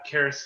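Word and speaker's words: Caris: i think getting uh charis levert is that how you say it it's not chris right it's paris um in order to get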